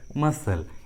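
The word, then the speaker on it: muscle: हैं तो सी का उच्चारण नहीं करते, सी साइलेंट होता है। For example मसल, accent.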